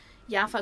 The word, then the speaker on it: Java: so ja yaa in is pronounced in Dutch yafa is one of the